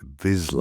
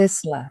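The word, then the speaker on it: Vizsla: The correct way to say it which most people don't is Vizla. Vizla. Vizla. V I Z or V I Z S L A.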